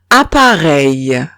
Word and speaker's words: appareil: Si tengo E-I-L al final de la palabra, se pronunciaría EI. Ejemplo, soleil. Soleil. Soleil significa sol. Otro ejemplo es appareil.